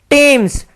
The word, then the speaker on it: Thames: ध्वनि देता है, जैसे टॉमस, THOMAS, तो ये थॉमस नहीं है, ये टॉमस है, ये किसी व्यक्ति का नाम है। ऐसे ही टेम्स, THAMES, तो ये बन गया टेम्स, टेम्स एक नदी को कहते हैं, ठीक है।